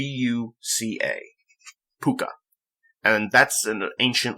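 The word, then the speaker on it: púca: he's a pooka which if you don't i'll spell that for you it's PUC a P you see a pooka and that's an ancient like mythical creature that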